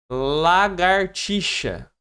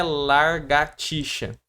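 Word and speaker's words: lagartixa: É lagarticha, não é largartiaxa. Quando eu tiver larga, é quando eu tiver uma cachorrinha que o nome dela é txa e você vai falar: "Pô, larga a tia". Vai pedir pra pessoa largar a tcha. Belezinha? Só nesse exemplo que a gente vai ter o larga, o o correto é lagarticha.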